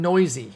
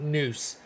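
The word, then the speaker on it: Neuse: to really invest in sheldon noisy is how you pronounce it it's not noose it's noisy and uh he's been making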